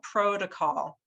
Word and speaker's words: protocol: to think about is where is the syllable stress and i've underlined that here with the uh the o in the first syllable protocol and that sound sounds like rose coat o and the reason this